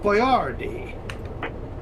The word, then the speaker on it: Boyardee: you give me the formula bad tyler chef boyardee nice that's how you actually pronounce his name you ever listen to the